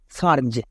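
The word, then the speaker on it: surge: তাই ই দেওয়ার জন্য সি এর উচ্চারণটা এখন সো হচ্ছে, তাই কি হলো? সিন্স। Next সার্জ।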